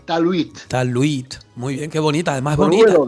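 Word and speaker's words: talwit: Bueno, bueno, pues la palabra paz es talit. Tal es una palabra muy fácil, muy fácil. Sí, sí. T a l w i t. Talit. Talit.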